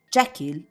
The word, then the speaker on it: Jekyll: Jacquel is composed by the words which in French means I and kill pronounced exactly like the verb to kill connected to the final suicide.